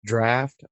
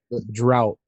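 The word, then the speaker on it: draught: The Guinness came up, and somebody who had like a Guinness draft, I guess they call it. I've always drought because of the way it's spelled, right?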